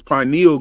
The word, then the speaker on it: pineal: Kwee says, I'm in the UK and everyone pronounces pineal gland like you do. Pineal. Yes. And most people, that's the first pronunciation of the word because